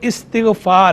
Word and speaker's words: استغفار: تو دیکھیں اس کا جو درست تلفظ ہے وہ استغفار ہے, یہ باب استفعال کا مصدر ہے, تو استغفار ہے, مصدر